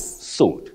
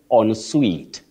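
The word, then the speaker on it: en suite: like the word s we T sweet not suit you have heard people talking about and suit have you heard that yes yes yes youve had that but you say on sweet onet not and Su on sweet that's on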